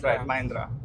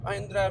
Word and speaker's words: Mahindra: Mahindra. Mahindra. And you're the first Chinese person who is pronouncing it correctly, Okay.